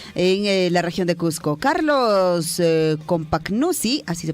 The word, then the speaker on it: Carlos Compagnucci: Carlos Compagnucci, así se pronuncia, tras su presentación como DT de Universitario,